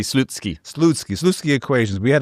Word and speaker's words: Slutsky: Not the proper pronunciation, but that's what we call him. I had to look it up myself for the for for the audio version. Apparently, it would be Slutsky.